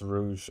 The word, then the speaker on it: Rouge: who intended to pry okay so it is pronounced rouge i was actually wondering that because there's rogue that's spelled g-u-e so it is i guess it is rouge i just didn't know if it had its